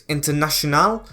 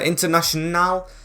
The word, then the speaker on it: Internacional: I think it's Internacional. I think that's how it's pronounced. It is the Brazilian T. Yeah, Internacional. There's no T in the second little bit, so you've got to get the sh sound right, as Conquo wants to